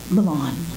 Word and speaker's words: Milan: You get to say it like that, Milan.